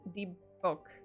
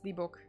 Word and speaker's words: dybbuk: I've heard it pronounced Dybbuk. Book. I guess Dybbuk.